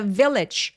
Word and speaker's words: village: 자, village 마을할 때 빌리지 아니에요. 저 v 발음은 바람이 세어나와야 되는 소리라서. 자, 제 입술 모양 보시고요. 올림이 굉장히 센 소리라서 근데 F 발음하실 때 특히 이렇게 아랫잎 있거든요. 이렇게 이렇게. 근데 그것보다는 아랫잎을 뒤쪽을 윈이랑 맞다 해서 바람이 세어나오게 만들어 주시는게 포인트예요. 그래서 V하고 F는 요렇게 V 요런 식으로 발음합니다.